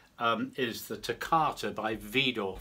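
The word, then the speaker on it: Widor: is the takata by vidor french composer video that's spelled w-i-d-o-r-v door um this is fast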